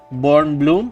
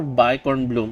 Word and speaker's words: Bkornblume: I butchered her name I'm just going to call her born Bloom silent k so yeah she is